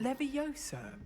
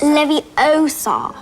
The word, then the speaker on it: Leviosa: Leviosa.